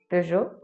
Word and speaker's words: Peugeot: pour ça qu'on va garder le jeu de peugeot mais on va pas faire le e parce